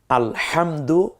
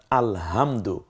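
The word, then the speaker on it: الحمد: ব্যবধান হয় একটু খেয়াল করুন যেমন আপনি পড়ছেন আলহামদু লিল্লাহি রব্বিল আলামিন এ হচ্ছে সহিহ উচ্চারণ কিন্তু আলহামদু এই যে উচ্চারণটা করলাম এর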